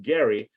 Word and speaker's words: Gerry: their party's power and it's named after a guy whose name is not Jerry it's actually pronounced Gary uh Elbridge Gary who is the governor